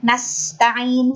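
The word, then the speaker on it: نستعين: Nah, lalu pada kata nasta'in, sinnya harus terdengar jelas. Nasta'in, karena huruf sin itu sedikit ya Bu ya.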